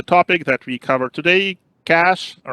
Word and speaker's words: cache: end and with a c-h not sh yes cash now any anyone anyone knows where cash comes